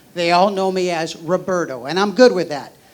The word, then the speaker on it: Roberto: So in Spanish, my name Roberto is pronounced Roberto.